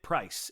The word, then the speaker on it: Pryes: Pryes, and it looks to me like Prize, but it's Price.